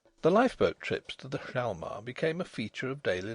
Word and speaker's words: Hjalmar: Some said the J ought to be pronounced to the exclusion of the H, and others maintained the contrary. In the end the first two letters were both abandoned utterly, also the last, but nobody had ever